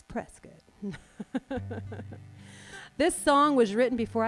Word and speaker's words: Prescott: And there's a town in Arizona that looks like it should be called Prescott. But it's not. It's like a biscuit. It's Prescott.